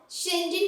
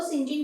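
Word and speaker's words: St. John: Novel में स्टेफन जॉन को शिंजिन कहकर प्रोनाउंस किया गया है, ठीक है। एक निकनेम होता है ना हर एक इंसान का, वैसे ही स्टेफन जॉन को सिंजिन कहकर प्रोनाउंस किया गया है, यानी कि इनके नाम को नोवेल में सिंजिन बोला गया है।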